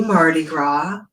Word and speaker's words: Mardi Gras: So let's start with Happy Mardi Gras, right? French, so the S is silent.